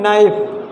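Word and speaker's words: knife: इसमें क्या है, के लेटर साइलेंट है, ठीक।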